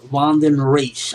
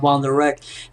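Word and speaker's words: Vandenreich: It's not Von the Wreck. So I believe it's Vanden Reich.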